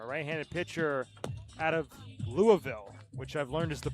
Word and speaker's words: Louisville: Hand it over to Jake Schwitzer, a right-handed pitcher out of Louisville, which I've learned is the proper way to pronounce that a couple weeks ago.